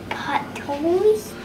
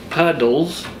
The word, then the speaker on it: puddles: Filling puddles. Puddles, not this pronounced D, not T, right? Puddles.